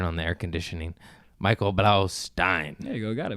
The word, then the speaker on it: Blaustein: pronounced Michael Blaustein, but it doesn't matter. We've been friends for a while. Stein. Yeah, it's Stein. Steen? No, it's Stein.